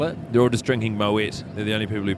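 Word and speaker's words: Moët: They're all just drinking Moet. They're the only people who paid enough money. I'm so glad you pronounced the T.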